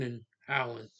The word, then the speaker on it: Konijn Eiland: Dutch language Dutch language is saying cone con Conan Allen that's how you say it in Dutch so